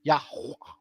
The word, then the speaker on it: Yah: or yah or yah that's technically how it is yah the pronunciation is almost silent but with a strong H praise to Jah yah